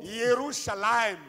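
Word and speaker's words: ירושלים: Sort donc, il ne dit pas Jérusalem, il dit Yerushalayim, parce que c'est comme ça que ça se prononce dans leur langue.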